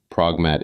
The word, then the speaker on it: Progmat: Pragmat is short for programmable trust. And the founder has written publicly that the T on the end is silent, which sounds like a note about pronunciation.